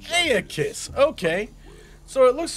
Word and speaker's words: Aeacus: I'm Aeacus. That's how you say his name. Aeacus.